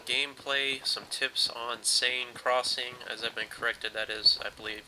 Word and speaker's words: Seine: some more Rush game play some tips on sane Crossing as I've been corrected that is I believe the correct pronunciation of this map I was pronouncing it cyan Crossing so um thanks for your comments again